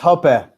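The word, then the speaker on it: Hoppe: library watching Hans Herman hope videos on YouTube that sounds awesome I will join you you will find me there as well it's pronounced Hopa Hopa I don't see I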